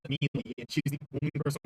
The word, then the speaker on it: melee: That's literally how you pronounce it, though. Melee is incorrect. Like, that's factually incorrect. That's not like a dialect thing. It's not an accent thing. Like aluminium. It's literally melee.